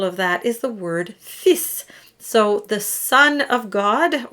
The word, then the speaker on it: fils: And a good example of that is the word fils. So the son of God, or my son, for instance, would be mon fils. And so we drop the L and just pronounce the S.